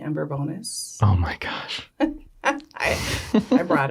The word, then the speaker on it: Bourbonnais: I think they're finally like, nope, it is Bourbonnais. Yeah. We're making it Bourbonnais. There should be a fine for every time someone mispronounces it.